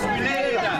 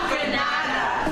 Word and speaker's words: Grenada: It's Grenada. It's not Granada.